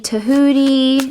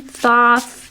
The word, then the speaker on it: Thoth: Some call that deity Tahuti, Thoth, Thoth, however you want to pronounce his name.